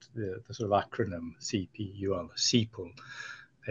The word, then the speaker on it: CPUL: sort of acronym CP cpool which actually is using a slight German pronunciation for that as opposed to kapul anyway seole um so